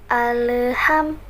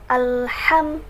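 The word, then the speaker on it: الحمد: orang-orang membacanya seperti ini alham alham seolah-olah ada penambahan e-audit tengah-tengah huruf lam dan hak-hak alham seperti jadi seperti diseret gitu bacaannya kayak diseret gitu loh jadi Alhamdulillahi rabbil Bil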